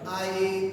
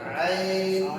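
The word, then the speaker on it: عين: আপনি যদি চোখের থেকে আইন তাহলে আইন আইন আইন খুব সাদা এটা বেশি ঘন ঘন কম হইবো না এটা পাতলা পাতলা করতে হবে এটা গলার সাথে বুঝছেন না বলেন আইন আইন আইন আইন আইন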